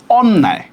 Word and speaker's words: অন্যায়: এইটা অধ্বনির পরে জফলা থাকা সত্ত্বেও এটা কি হবে? এটা হবে অন্যায়।